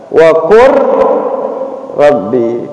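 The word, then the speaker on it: وَقُل رَّبِّ: Ketika ada lam sukun bertemu ro, cara bacanya adalah wa qur rabbi kalalam. Maka tidak betul, salah bacanya wa qul rabbi, salah.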